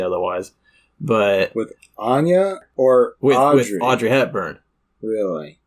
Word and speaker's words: Anya: Skarsgard where she says I am Ana Taylor Joy so ana ana I'm sorry if I said it wrong before I don't remember now which way I was pronouncing it but that's the way we're going all right well tell